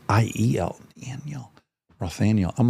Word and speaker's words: Rothaniel: in theaters, and then Rothaniel. I really urge everyone to watch Rothaniel on HBO Max. Am I pronouncing your first name right? Rothaniel? Yeah, Rothaniel.